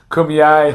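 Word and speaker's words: Kumeyaay: Kumayai. How do you say it? Kumyai.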